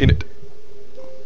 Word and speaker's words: innit: Yeah, it's more like it's kind of like there's like two N's, but it's like a silent second N, but you kind of have to semi pronounce it. It's kind of like an in knit, but it's like in it. In it. With no T.